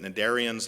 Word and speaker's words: cnidarians: multicellular organisms were cnidarians C n is how that word starts it's pronounced rather deceptively but cnidarians like jellies and whatnot